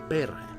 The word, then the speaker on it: perhe: Perhe.